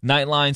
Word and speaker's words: Knightline: Knightline spelled like UCF Knight, K-N-I-G-H-T.